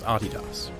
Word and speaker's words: Adidas: by the way that is indeed how you pronounce Adidas but back to Phil after writing that paper